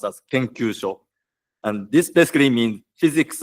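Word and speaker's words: 研究所: And the first 3 letters are pronounced as Rikagaku, and the last 3 letters are pronounced as Kenkyusho.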